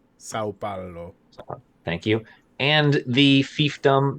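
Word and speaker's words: São Paulo: yeah which is part of the state of sai paolo sao paolo thank you and the fiefdom that was hernambuco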